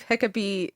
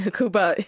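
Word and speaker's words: Hecuba: there's like there's a there's an English pronunciation and then there's like the Greek pronunciation I believe hiccabee is sounds like Greek and hakuba is the like English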